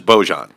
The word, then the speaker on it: Bojan: The popular pronunciation is Bojan.